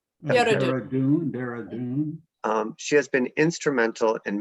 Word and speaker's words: Dehradun: my experimental farm in, how do you say, Darudan? Dehradun.